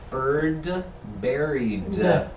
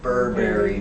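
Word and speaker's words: Bird, Buried: And it's bird buried, not Burberry Press. Pronunciation. Yeah. You really gotta hit those D's.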